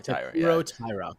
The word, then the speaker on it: Taira: Taira.